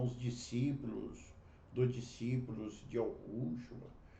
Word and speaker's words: Yahushua: Mas o próprio Yud-Hei Shoah, eu pronuncio como Yahushua, né?